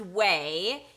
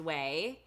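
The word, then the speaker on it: OUAI: funny spelling um but it's pronounced way it's o u a i pronounced way um i'm gonna here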